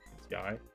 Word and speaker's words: Yai: This person's name is Yai, by the way. I think that's how they pronounced it in the anime. Yai. Ya. It's Yai.